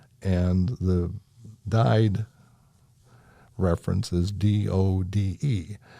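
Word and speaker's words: døde: The Norwegian pronunciation of died is dud, and the Danish version is dod.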